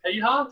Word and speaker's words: Piha: I think it was Piha. Did I pronounce that correctly? Yeah, Piha, yeah.